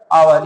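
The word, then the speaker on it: hour: आवर। इसका pronounce कैसे होता है? आ से स्टार्ट हो रहा है।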